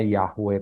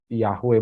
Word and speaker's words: Yahweh: juga enggak tahu sebetulnya nama Allah yang bener tuh bacanya Bagaimana ya para para ahli hanya bisa memperkirakan namanya yahwe tapi nggak ada yang pasti Bapak Ibu karena orang